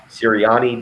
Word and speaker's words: Sirianni: How do you pronounce the new Eagles coach's last name? Sirianni.